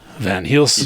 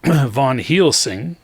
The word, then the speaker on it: Van Helsing: Van Helsing. He's that good of a rogue? Yeah, he's just constantly making those stealth checks. Von Helsing, said it right this time.